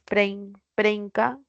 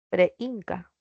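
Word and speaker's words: preínca: Espero que haya sido claro, sí, preinca lleva tilde porque hay un hiato, no es preinca, preinca.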